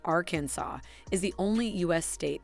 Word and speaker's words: Arkansas: Arkansas, narrator's note, pronounced Arkansas, is the only U.S.